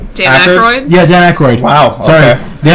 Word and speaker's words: Aykroyd: Did you know they had to get permission from David Ackard? Dan Aykroyd?